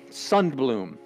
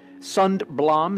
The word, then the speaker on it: Sundblom: his name is Harold I'm gonna say it this way son bloom now here's my son Blom Sundblom or son bloom and I think it's son bloom because it's a Swedish name and he's from this